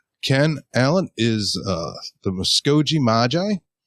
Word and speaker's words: Muskogee: just uh basically my own ignorance so uh muskogee muskogee magi ken allen will be joining us